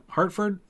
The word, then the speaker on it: Hertford: this is this is hertford hartfordshire hartford is how you say it hartford hertford hartford sure